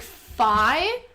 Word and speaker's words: phi: Like phi, pronounced like in the dolphin, I, phi. So yeah, phi. Okay, so it's like rye, but it's phi. So it's like FYE because it's supposed to phonetically sound similar to rye, which is RYE, but it's not.